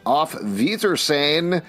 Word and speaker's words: Auf Wiedersehen: It's with a W and you say with an F?